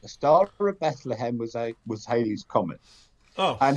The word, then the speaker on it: Halley: after an English astronomer, Halley. oh, I thought it was called Haley. No, he was actually pronounced Halley.